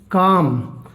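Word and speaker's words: calm: जैसे एक और लेते हैं हम काम, अगर ये लिख दें काल्म, आपको पता है ए आ गया तो एल साइलेंट रहेगा, और इसकी ट्रांसक्रिप्शन सबसे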